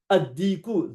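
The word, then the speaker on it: الديك: You don't pronounce the lam, you pronounce the tanween in the first letter of the word, like ash-shamsu.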